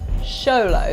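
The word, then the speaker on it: Xolo: rarest in the world show low that's how you say it yeah if i've got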